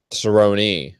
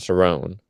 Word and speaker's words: Cerrone: uh Cerone versus Lawler Cerone it's not Sone um whatever well you